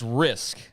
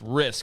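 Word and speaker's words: Rizk: risk I don't think I was saying that properly I'm a big big stickler for pronunciation yeah because if I would have pronounced it like that you would have jumped yeah um but Dylan risk is the ucf's quarterback I was I'll say Riz it's risk I just want to clarify that so everybody knows moving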